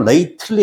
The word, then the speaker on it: lately: 그래서 저 these days, 그 다음에 lately, 발음은 lately 아니면 T 발음 안 납니다.